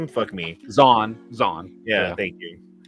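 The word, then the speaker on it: Zahn: wish that they could do the uh Timothy Zorn Z or whatever how do you say his name me Zan Zan yeah thank you um I read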